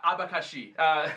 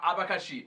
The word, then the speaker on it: abacaxi: E também abacaxi. Eu gosto de falar abacaxi. É muito bom. Muito Essas legal. palavras que têm a ênfase na última sílaba, tipo maracujá, abacaxi, né?